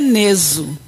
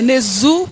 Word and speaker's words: Nezu: Segundo meu pai, é Neso. Agora, segundo a pronúncia popular, né, é Nezu, que é mais fácil, né?